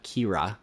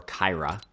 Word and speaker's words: Kira: Includes this Love Letter Kira, or Kyra. Depends how you want to pronounce that one.